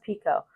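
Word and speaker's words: Picoult: her name is spelled like picle but it's pronounced Pico how do I know I got to hear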